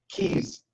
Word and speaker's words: cis: about, because fun fact, in Latin, that is pronounced keys.